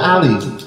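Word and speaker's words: ألف: Makanya ini tetap dibacanya alif, bukan a, tapi alif.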